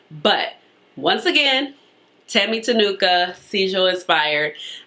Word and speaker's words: Sigil: once again tammy tanuka seizure inspired i believe i'm pronouncing it right because i was told down in my comments that it's kind of like with a j versus a g how it spells so i hope i'm